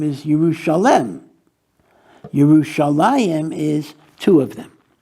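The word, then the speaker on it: Yerushalayim: have that second J it's not jusa liim but it's yerusalem what is the significance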